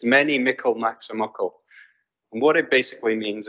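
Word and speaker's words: mony a mickle maks a muckle: the English people to see if they can pronounce it but I'll give you it's many Michael maximuckle and what it basically means is lots of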